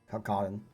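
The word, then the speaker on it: Calcardan: Cal, C-A-L, Car, C-A-R, Dun, D-A-N, Kalkaran.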